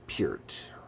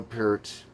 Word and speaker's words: Peart: Anyways, so yeah, Neil Peart. I always say Peart because that's the way I always remember hearing it as a kid. Peart, I believe, is the proper way to say it.